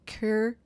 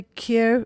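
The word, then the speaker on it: Kir: Well, I made for us a Cure Royale. Cur. Cure Royale. Okay. K-I-R. Cure.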